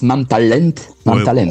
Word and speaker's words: Mam Talent: plein de pays différents ça s'appelle MAM talent en Pologne et oui enfin ça se prononce MAM talent oh ça va fais